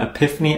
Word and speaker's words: Apipheny: add-ons and search for The Epiphany add-on which is spelled API p n after you've searched for